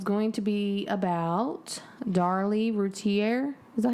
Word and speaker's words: Routier: So tonight's episode is going to be about Darley Routiere.